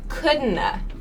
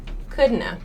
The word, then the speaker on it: couldn't have: I didn't so coulda similarly couldn't have sounds like couldn't uh couldn't uh she couldn't eat in that pizza by herself that's what a native speaker would say I couldn't have come